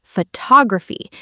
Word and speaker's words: photography: We say photographer but photography. The stress changes.